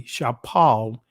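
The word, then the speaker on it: שָׁפֵל: Shafel, right? And the Israeli, Shapal, in the ancient Hebrew. That's the pronunciation of the word.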